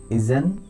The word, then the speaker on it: isn't: যেমন আমরা যদি এক্সাম্পল দিই, এইভাবে বলতে পারি আমরা, দা ক্যাট isn't playing. The cat isn't playing. The cat isn't playing. The cat isn't playing. এখানে টের উচ্চারণটা একদম শোনাই যাবে না, এরকম।